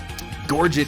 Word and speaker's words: gorget: by many different people gorget is one that i stand by because the word was anglicized well over 500 years ago and whether it was originally pronounced in french with a soft tea or not it doesn't matter because gorgic is an english word that means something now neck armor i